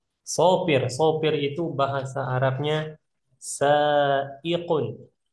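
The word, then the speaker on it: سائق: Sanya panjang. Nah, ini kof, ini hamzah nanti. Nah, ikun. Ikun. Sin, hamzah, kof.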